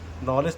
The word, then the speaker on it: knowledge: नॉलेज तो शुरू होता है के से, लेकिन उसको के को क्यों नहीं पढ़ा जाता और कब नहीं पढ़ा जाता, आज हम लोग ये जानेंगे।